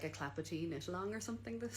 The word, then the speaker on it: Clapotis: So Clapperty, definitely. I just think it's a free pattern on Knitty. It's spelled Clapotis, in case you have never seen it before.